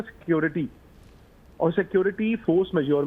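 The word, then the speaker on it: force majeure: मुझे फ्रेंच आती नहीं, इसको प्रोनाउंस कैसे करते हैं, इसको कहते हैं फोर्स मेजोर।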